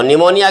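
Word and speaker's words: pneumonia: ही common word है, और कुछ एक ऐसे वर्ड्स होते हैं जिनकी स्टार्टिंग जो है डिफरेंट लेटर से होती है, इसकी साउंड से डिफरेंट। तो न्यूमोनिया की स्पेलिंग P से शुरू होती है, तो ये तो वैसे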